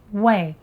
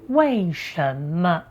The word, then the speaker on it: 为: A simple way to remember, when pronounced 为 as in 为什么因为 and 为了 it usually refers to reason or purpose.